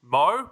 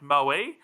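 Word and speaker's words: Moe: from a town that's called Mo, but apparently pronounced Moi.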